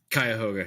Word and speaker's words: Cuyahoga: Most happened in the Cuyahoga. Is that correct? Cuyahoga, yeah. I don't know if that's actually correct. I mean, that's the common pronunciation, I would say.